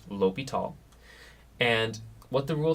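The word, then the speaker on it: L'Hôpital: And yes, this is pronounced L'Hopital.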